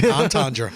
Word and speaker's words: entendre: uh i've lost double entendre i can't spell it but i can say it entendre and you said it right yeah i've lost respect